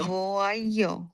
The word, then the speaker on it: voyons: Right, Nous ওয়াইয় vo- হবে, ওয়াইয়, ওয়াইয়, voyons.